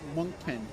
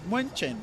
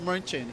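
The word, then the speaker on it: München: not the English way I'm trying to pronounce it the German way it's it's muen Right. It's Munchen. It's It's pronounced Munchen in German.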